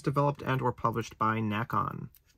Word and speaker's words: Nacon: On the PS4, it has a PS5 upgrade available, and is developed and or published by Nacon. Or Nacon. It is spelled like bacon, I guess.